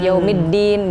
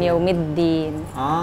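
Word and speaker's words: يَوْمِ الدِّين: yang baca Kiong Idin jadi logatnya induk banget gitu yaumiddin Bukan yaumid diin gitu sih Beb oke di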